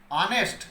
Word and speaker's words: honest: जैसे फॉर an example, यहाँ word लिखा हुआ है HONEST, लिखा हुआ है HONEST, पढ़ा जा रहा है यहाँ अनेस्ट।